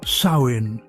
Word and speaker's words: Samhain: They called it Samhine, pronounced sin.